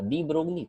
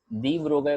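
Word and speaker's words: de Broglie: कहीं किसी ने सुना कि नहीं एल साइलेंट है भाई, तो ठीक है, इट्स ओके, रिलैक्स, दी ब्रोगाई बोल दो, क्या फर्क पड़ता है।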